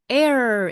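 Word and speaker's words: ere: 이익 또는 이득인데 그렇다면 앞에 있는 a이 접속사 발음이 Air 이렇게 되고요 의미는 before이라는 뜻입니다 그러니까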